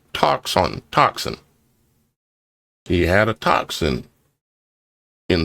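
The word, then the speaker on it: τόξον: Bow, as defined, G 5115 in the Strong's Concordance, Greek 5115 is toxon, pronounced toxin.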